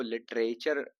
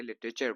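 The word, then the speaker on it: literature: आ गए तो इसको लिटरेचर ना बोल के टा पे जोर ना देके लिटरेचर बोलो तो थोड़ा ठीक लगता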